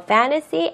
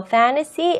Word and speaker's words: fantasy: His painting was a lame combination of a fantasy and reality. 여러분들 혼자. Very good. 자, 여기에서 가장 중요한 거는 fantasy라고 발음한 게 아니라 fantasy라고 발음한다는 거 꼭 잊지 마세요.